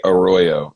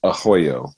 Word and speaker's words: Arroyo: the same uh because that would be arroyo at all the other places we've ever been to but it's ahoyo with two r's somehow so um but yeah